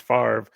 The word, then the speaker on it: Favre: Not a single even like way to understand that it would be pronounced Favre. Just you got to know that f a v for some reason just says Favre.